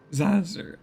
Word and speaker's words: Zazer: Professor Zazer, like laser with a Z.